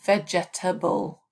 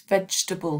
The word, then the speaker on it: vegetable: of these three words students often say vegetable and of course it's vegetable three syllables and think about where